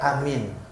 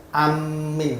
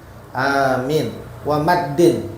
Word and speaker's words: Amin: haiat yang selanjutnya yaitu membaca Amin bitakfif dengan diringankan bukan tasdid Amin salah jangan ditasdid amin Aminin dan dipanjangin boleh Anya dipanjangin Amin ada dua cara bacanya Boleh Anya pendek Amin jadi boleh Amin boleh